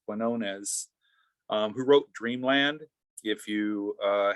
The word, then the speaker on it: Quinones: And I just wanted to add, if folks haven't, I'm currently finishing reading a book by Sam, I believe I'm pronouncing his last name correctly, Quinones, who wrote Dreamland.